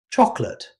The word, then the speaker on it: chocolate: Chocolate. Rather than pronouncing all three syllables clearly, most native speakers